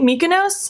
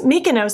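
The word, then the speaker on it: Mykonos: second this one is my co nose if I'm saying that correctly mikonos mikonos that's how you say it from the ACE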